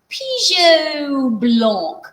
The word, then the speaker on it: Pigeot Blanc: Let's give it a French pronunciation and call it Pigeot Blanc. So that's how it got its name.